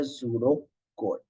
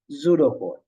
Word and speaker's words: pseudocode: textual method like a pseudocode. What is this? Pseudocode, right? Pseudocode. That's how we are pronouncing. P silent, pseudocode, right?